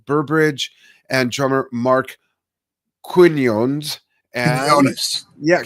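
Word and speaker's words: Quiñones: Quinones. Yeah, Quinones. Thank you. I can pronounce larynx, but not Quinones.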